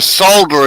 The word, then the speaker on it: solder: know well you know technically we're supposed to pronounce it with the l but we don't and i used to